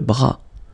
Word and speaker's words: bras: Le bras, le bras, same thing here, final S not pronounced, le bras.